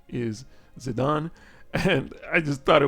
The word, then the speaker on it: Zidane: was Justin specifically pointing out that the correct pronunciation is zidan and I just thought it was funny how people in the in the comments or in the chat were kind of saying like oh it's zidane zidane but actually I remember back in the world